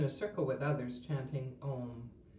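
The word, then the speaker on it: Aum: There are moments when I've reached when I've been in a circle with others chanting om a u m has three syllables where I felt we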